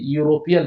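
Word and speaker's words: European: कि इसको प्रोनाउंसिएशन कीजिए, यूरोपियन लिखिए, यूरोपियन, यूरोपियन। यूरोपियन, इसका प्रोनाउंसिएशन करिएगा यूरोपियन, यूरोपियन। देखिए वॉवेल से स्टार्ट होता है लेकिन इसका प्रोनाउंसिएशन जो है वह कॉन्सोनेंट से हो रहा है, इसीलिए यहाँ क्या लगाना है, ये यूरोपियन।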